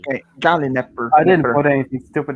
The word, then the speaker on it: Gallinipper: Is that how you pronounce it? Gallinipper? Gallon Nipper. That's an Nipper. I, not an A, after the N and P. Okay, Gallinipper.